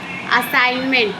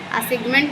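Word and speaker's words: assignment: उसी तरीके से असाइनमेंट तो जी एन यहां पे साइलेंट है। असाइनमेंट होगा। असाइगमेंट नहीं लिखना है।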